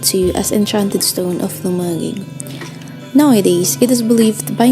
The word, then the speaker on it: Lumaguig: After some time, it was called Lumaguig Stone. Sadly, it is often mistakenly pronounced as Lumaguig Stone.